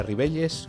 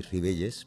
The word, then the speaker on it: Ribelles: yo soy y ribelles pero rivelles podría ser riberas final que se pronunciaría parecieron y la ll es como la calle normal castellano en castellano que aquí en asturias